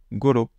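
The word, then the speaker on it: ごろ: Goro, c'est un mot qui est extrêmement utilisé en japonais, qui, alors, souvent on fait la liaison, ça se lit goro, parfois vous l'entendrez koro. Voilà, les deux prononciations sont acceptées.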